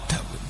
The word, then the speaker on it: Dawud: Itulah mengapa ada David Beckham, David, tapi bagaimana orang Arab membacanya? Dawud.